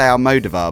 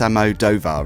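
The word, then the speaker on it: Almodóvar: I always get his name wrong. I used to say Almodovar, but it's Almodovar, isn't it?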